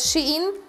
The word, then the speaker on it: Shein: ubrania, uważam, że nawet Shein, tak to się wymawia, w końcu powiedziałam to prawidłowo, chyba, bywa nawet lepszy.